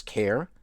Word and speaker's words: char: to use the CH also sometimes pronounced as care car or R data type once again